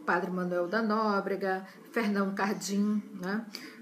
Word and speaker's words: Cardim: Então, nós tivemos jesuítas como Padre Manuel da Nóbrega, Fernão Cardim, né? Não é bem essa a pronúncia, acho que se pronuncia mais Cardan, mas eu vou pronunciar como está escrito, né?